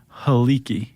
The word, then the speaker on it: Helike: He- Helike? Helike.